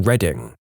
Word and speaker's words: Reading: The UK Dyslexia Association is situated in Reading, which is spelt like the word reading just to mess with everyone.